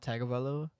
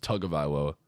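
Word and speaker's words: Tagovailoa: say tongue lower yeah it's actually how it's pronounced I'm pretty sure it's not tag about level it's like talking about it's tug of ILO um so no I was just wondering I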